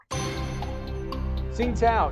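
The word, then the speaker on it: Tsingtao: sing tao beer originate you don't pronounce the tea do you sing tau china indonesia thailand vietnam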